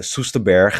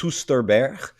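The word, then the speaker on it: Soesterberg: know about the 1979 uh susta bear the netherlands uh ufo case i do not please allow me silly if i tried to pronounce that myself uh it's not that it's susterberg um but um this was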